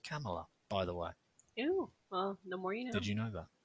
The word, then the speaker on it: Kamala: from kamala harris and it's not it's not pronounced kamala it's pronounced camella by the way ew well did you know